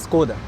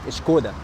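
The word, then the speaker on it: Škoda: in the Czech Republic the S in Skoda has a sign above they pronounce it SH they pronounce it shkoda, we say it skoda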